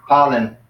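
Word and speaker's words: πάλιν: The word pollen.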